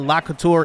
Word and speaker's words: Lacouture: a handoff to David Lacouture as he gets a gain of 8 I looked up the actual pronunciation on that. Lacouture is what it is. It's a French last name.